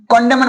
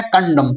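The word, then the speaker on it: condemn: इसे I think सब क्या पढ़ता है पता नहीं, कॉन्डेमन पढ़ता है। क्या पढ़ता है, कॉन्डेमन। लेकिन इसका रियल प्रोनाउंसिएशन है कंडम।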